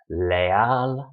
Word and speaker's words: leal: So it could be a 2-syllable word like real, royal. We don't stress the re, we stress the al. Leal, loyal, we stress the al.